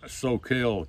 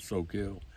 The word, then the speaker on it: Soquel: a ranch out near Soquel California I think that's the way he pronounce it so kill California well the year slipped